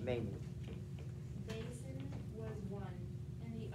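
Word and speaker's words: Mane: You sent the payment to counts of your Mene, or Mene, M-A-N-E is how it's pronounced, Mene.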